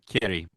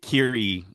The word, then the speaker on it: Kiri: Kiri. Kitty. It's a R, but it's pronounced with a D. Kitty. Is it actually? Yeah, it's Kiri.